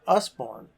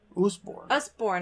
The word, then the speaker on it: Usborne: And another one, our friend has Usborne. Usborne, I think is what he said it's pronounced.